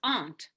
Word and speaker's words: aren't: aren't you in bed don't say aren't arendt is wrong english why aren't you in